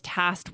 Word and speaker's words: tasked: But don't you think that most native speakers would just say, I was tasked with lowering costs? They would just completely not even try to pronounce the K. I kind of think that's what I do. When we're speaking quickly, we do. We almost just eliminate the K to save time to make it easier.